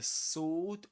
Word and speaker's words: sword: The sword of Gryffindor is my price. The sword. Sword. Yeah. So this is sword which means that the this letter is silent. You don't pronounce it.